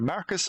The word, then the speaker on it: Marcus: And it's either Marcus or Mercus, depending on which region and which version of the game you're looking at, because in English in North America and English in PAL, it's spelled M-A-R-C-U-S and M-A-E-R-C-U-S.